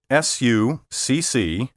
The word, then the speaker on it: succinct: accent on the first syllable how do you pronounce the word spelled s-u-c-c-i-n-c-t what about the word spelled f-l-a-c-c-i-d if you